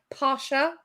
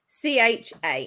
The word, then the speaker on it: Pacha: It's like Pasha, All right. but it's Pacha. yeah. Yeah. I think you're right. If it's who I'm thinking, it's Patcher. Yeah. Yeah. I mean, it's Pacha.